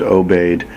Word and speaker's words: Obey: or OB D it's spelled both ways and pronounced obeyed by the natives and um it would be